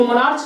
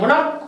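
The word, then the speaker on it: monarch: इसको मोनार्च नहीं पढ़ेंगे, मोनार्क पढ़ेंगे। क आ रहा है इसका, देखिए लास्ट ch का क्या प्रोनाउंस हो रहा है, क्या स्पेल कर रहे हैं हम, क हो रहा है।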